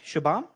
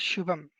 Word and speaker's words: Shubham: yeah we can okay am i saying that right shabam uh yeah my name is shubham okay perfect so can i pronounce it again let's okay what am i missing like the h shiv ham or something like that shoe pump okay ship hum like that yes yes okay okay you